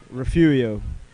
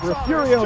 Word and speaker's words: Refugio: all the time i can't even say it refugio you know i'm gonna give you that i'm going to give you that it's darn close refurio you said refugio is close enough we'll get the ball i